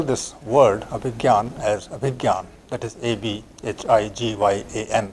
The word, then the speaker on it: Abhigyan: But for our purposes, I think GY would be as good, because this is how we pronounce the word in our daily conversation.